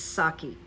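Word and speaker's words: Psaki: you know like this is how you pronounce Jen's name there's no P you don't have to worry about the P it's saki so that was very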